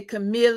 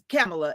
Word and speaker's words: Kamala: Well, my name's Kamala, and so everybody would say Camille. It's pronounced just like the vice president, Kamala, and they would always mess my name up.